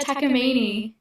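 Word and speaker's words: Takamine: This Tami, how do you pronounce this? Yeah, Takamini.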